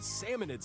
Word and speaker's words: Salmonids: But there's a bunch of aggressive creatures called salmonids in the way. Salmonids? And when you get too I thought close, it was they'll salmonoids.